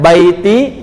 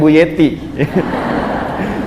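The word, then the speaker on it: بيتي: Dan keinginan sakinah itu kadang dituangkan dalam bentuk tulisan, ditempelkan di dinding pintu, dia tuliskan baiti jannati gitu kan ya. Bacanya baiti ya, bukan buyeti.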